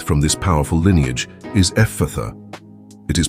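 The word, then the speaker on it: Ephphatha: The word we will work with from this powerful lineage is Ephatha. It is pronounced Ephatha with the emphasis on the last syllable.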